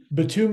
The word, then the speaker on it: Bitumio: the first time um we thought we were clever coming up with Batum right because batumin is the black ingredient that goes into asphalt right and then IO